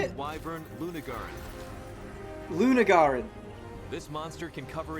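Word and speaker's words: Lunagaron: I did the instead of I did it the other way, and I was wrong. I was wrong in both instances. Luna Garan.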